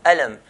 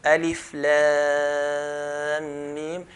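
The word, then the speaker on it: الم: We don't recite the word. For example, there's alif, lam, mim. We don't pronounce the word alam, but we pronounce the names of the letters. So alif, lam, mim. When there's ha in the mim, we don't say ham, but ha, mim, and so on.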